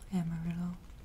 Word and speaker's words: amarillo: Also, I forgot to tell you how to spell amarillo.